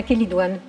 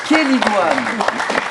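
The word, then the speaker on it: chélidoine: oui déjà déjà la kidoine ça s'écrit ch c e I et on dit bien kan donc quelle plan de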